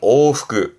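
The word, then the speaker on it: 往復: 발음은 오후그 오후 그렇죠 여러분 많이 하시는 복습 제가 강조하죠 복습하시는 거 발음은 후크슈 후크슈 앞에 한자는 숫자예요.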